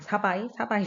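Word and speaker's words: Savai'i: 발음이 사바이 섬, 네.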